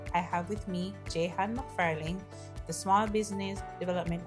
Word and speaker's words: Jehan: Can you pronounce it for us? Yes, Jan.